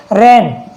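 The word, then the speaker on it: reign: एन से पहले जी आ रहा है तो जी साइलेंट हो जाता है। ऐसे हो गया रेन।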